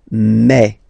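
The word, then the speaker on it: mes: Okay, so for the phonetical or pronunciation aspect of it, then remember that this es here combined will give you the sound e. Okay, so you'll pronounce it like me, me, me.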